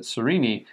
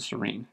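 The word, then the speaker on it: Sarene: So it's interesting, the first narrator pronounced it Sereni, which is interesting, I always pronounce it Serene. And if I were reading it on my own, I would have said Serene.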